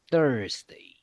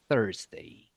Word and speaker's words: Thursday: Yeah, the pronunciation, remember, is a little bit difficult, but don't you forget, it sounds like this, okay? Tuesday, Tuesday, Thursday, Thursday. Can you see the difference?